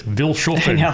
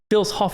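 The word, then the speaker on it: Vilshofen: And I will say for 5 years I pronounced it wrong. If you read it, I don't know as Americans were like it's Vilen. No, it's Phil Hoff and we learned that on our last cruise.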